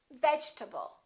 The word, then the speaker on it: vegetable: the e is dropped we don't say vegetable a lot of my students say that your table or vegetable this e disappears and this a is reduced because it's part of the unstressed syllable and we say vegetable vegetable let's look at a